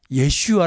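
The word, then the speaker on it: ישוע: 슈아 라고 불러 거든요 히브리 말로 예수와 그렇죠 좀 예 슈아 라고 부르는 사람들이 많습니다 우리도 한번 따라 합시다 예수와 다른 신 이름이 아니에요 이 거액 씨가 가 예수님을 원래 원음에 가깝게 발음하면 예 슈아가 되는 겁니다 따라 써요 예수와 예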